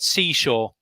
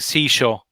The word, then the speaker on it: seashore: This word, seashore. You Yeah. tell me, seashore. Beside the sea? Yeah, seashore, longer or sound. Yeah, you're saying seashore, too short. Okay. The pronunciation, I should make it longer. Seashore.